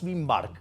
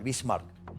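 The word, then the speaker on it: Bismarck: señor que llamaba ot Bin Mark sí lo pronuncié mal bismark el punto es el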